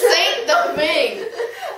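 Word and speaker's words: Saint-Domingue: It's Saint Domingue. Okay, Saint Thank you, Domingue.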